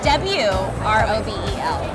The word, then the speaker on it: Wrobel: It's spelled R-O-B-E-L. With a W in front. W-R-O-B-E-L. The W silent.